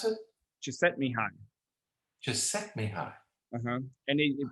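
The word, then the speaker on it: Csikszentmihalyi: the idea flow um he pronounces it to set me high okay but if you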